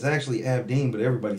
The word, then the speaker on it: Abdin: Abdin. Ab, like all those abs. They both wrong. Joe said on his live last night that I've always been pronouncing it right. Abdeen.